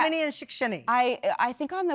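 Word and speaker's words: Shickshinny: a small town in pennsylvania how do you pronounce it shikshini shikshini pennsylvania yeah i'm originally from a town called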